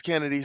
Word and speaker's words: Chennedy Carter: Yeah, it definitely is spelled Chennedy, but they say it's Kennedy, so she saying name Kennedy, her name Kennedy.